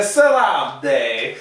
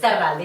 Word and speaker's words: Sarralde: I know the R's are hard to pronounce, Yes. but yes, Sarralde, you did it perfect.